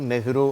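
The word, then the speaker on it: Nehru: அதனால அந்த உச்சரிப்பு நெஹ்ரு அப்படின்னு வரும்.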